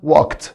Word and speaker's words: walked: اللي بعدها كلمه walk walk، والماضي بتاعها walked walked. ولاحظ برضو بعد الكه ساوند الاي دي بتنطق تا walked walked.